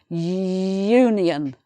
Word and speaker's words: union: Union begins with a U, which is a vowel sound. So, no, hang on. This is one of those exceptions. Union. So, I nearly caught myself out there. It's a Y sound.